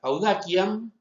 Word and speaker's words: audaciam: Por lo tanto, la palabra audaciam, la C se pronuncia como oclusiva, no como nosotros estamos acostumbrados a pronunciarla de forma fricativa.